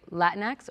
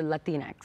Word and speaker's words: Latinx: Yeah, you can say Latinx or Latinx. Okay. Depending on if you want to.